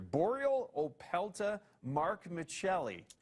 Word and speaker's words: Borealopelta markmitchellii: Borealopelta markmitchellii. Markmitchellii. Mark Mitchell joins us this morning via Skype from the Royal Tyrrell Museum in Drumheller. Now, Mark, did I say that accurately? Is that the correct way to say it? Yes, yes. I did. Okay, so Pretty much. Borealopelta markmitchellii, you That was a tongue twister, but yes.